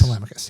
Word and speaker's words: Telemachus: Telemachus, yeah. At least that's how I pronounce it in my head.